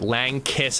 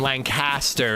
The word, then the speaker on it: Lancaster: You pronounce it it's Lancaster is the way locals say it. Lankiss as in, and then Lancaster is the way non-locals pronounce it.